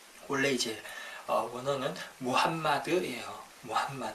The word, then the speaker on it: 무함마드: 추천 어 마음엔 트라고 하는데 이 표현은 잘못된 발음 이구요 약간 영어식 빵 바탕 때 올래 이제 언어는 무함마드는 이에요 왐마 드 어 그래서 우리 이제 어